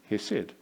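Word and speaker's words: חסד: Now in Hebrew, the word for somebody who lives out their life covenant is hesed. Now I'm going to apologize because I'm not actually pronouncing it correctly.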